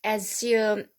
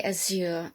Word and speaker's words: azure: All right, and that is seizure and azure. Well, azure, I think is American. I think we say azure in England, zure rather than jure.